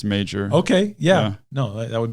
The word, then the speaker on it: Major: Is it Major or is it Mayer? I think I asked her. Oh, you asked her? And I think that it's Major.